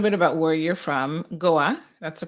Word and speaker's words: Goa: talk a little bit about where you're from goa that's the correct way to pronounce it yes is an island correct it's